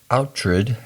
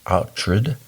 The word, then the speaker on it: Oughtred: Oughtred actually is how Iain said it's pronounced, Oughtred.